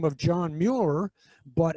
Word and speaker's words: Muir: the name of John Muir but actually in Scotland is pronounced more and the combination th